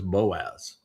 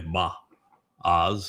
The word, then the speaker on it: Boaz: shared, his name was Boaz. Uh, the proper pronunciation is probably Ba Oz or Ba O.